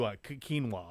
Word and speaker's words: quinoa: have to Queen wao quinoa qu K sounds like a k yeah Q quinoa okay I I'll definitely